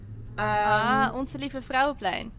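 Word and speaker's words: Onze Lieve Vrouweplein: It's at Onze Lieve Vrouwplein. Onze Lieve Vrouwenplein. I see. Yes, thank Yes. you for the actual pronunciation.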